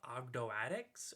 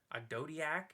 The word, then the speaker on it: Ogdoadic: which are the Abhiss, which in the TCG they're being called Ogdoadics or Ogdodiac, depending on however you want to pronounce it. I prefer Ogdoadic because that just sounds cool.